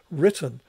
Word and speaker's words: written: of the lexical stress so written has a stress and emphasis on the first syllable whereas return has an emphasis or stress on the second syllable and what you've got